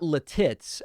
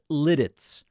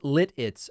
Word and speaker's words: Lititz: John said, David, it's not Lititz. I loved it, but it's pronounced Lititz.